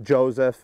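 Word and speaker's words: Jozef: what is it Joseph it was uh traditionally yes but it's just Joseph uh in the English language it's actually my great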